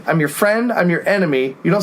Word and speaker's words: N.M.E: like, And of course, no one pronounces enemy like they should. They're always like N.M.E, N.M.E. It's enemy. Yeah, It's like enemy, enemy at the gates, public enemy. You can say enemy.